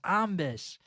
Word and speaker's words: Ombis: No, it's Ombis. And Ombis is spelled, if you take the Z and the E out of zombie, you get Ombis.